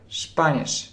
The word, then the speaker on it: Spanisch: Совершенно правильно вы в комментариях отмечаете, что эта комбинация читается как ш-шп-шп. Spanisch.